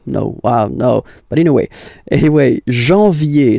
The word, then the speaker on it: janvier: But anyway, janvier. So that's the way to pronounce it. Janvier, A-N, en, okay? And then yé, yé, yé, janvier.